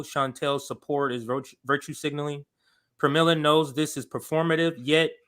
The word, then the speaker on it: Pramila: Pramila. Yes. Okay. Yes. So I said, oh, look, more so-called progressives shielding for corporate Democrats. Do you think Pramila doesn't know Chantel's support is virtue signaling? Pramila knows this is performative, yet she still gives